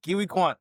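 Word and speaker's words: Ke Huy Quan: for pronouncing his name correctly. Yeah, Kiwi Kwan.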